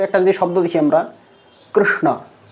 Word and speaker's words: কৃষ্ণ: যদি শব্দ দেখি আমরা কৃষ্ণ কৃষ্ণ এটার উচ্চারণ এভাবে হওয়া উচিত অর্থাৎ যেটা আমরা কর্ম শব্দ উচ্চারণ করি কর্ম শব্দের ককে বাদ দিলে এবং শেষের দিকে ম কে বাদ দিলে যে মধ্যস্থানে উচ্চারিত হয় এটাই হচ্ছে এই বর্ণের